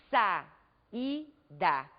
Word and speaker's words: saída: vogal i no entanto ao pronunciarmos a palavra sa ida nós observamos podemos observar que as vogais ficam em sílabas separadas são duas vogais pronunciadas